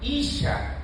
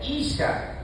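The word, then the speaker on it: אִשָּׁה: Esta será llamada, en el original dice, esta será llamada Isha, así se pronuncia, Isha, porque del Ish fue tomada.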